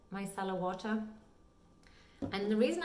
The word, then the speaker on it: micellar: cleaner and one is the micellar you pronounce it my style of water and the